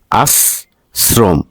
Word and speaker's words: আশ্রম: বৃত্তি উচ্চারণ আবৃত্তি আবৃত্তি আশ্রম যদি র ফালা থাকে তাহলে তালবস দন্তস্য উচ্চারণ হবে আর দন্তস্য থাকলে দন্তস্য মধ্যনস থাকলেও দন্তস্য উচ্চারণ হবে আস্রম উচ্চারণ হচ্ছে আস্রম আসক্তি আস শক্তি না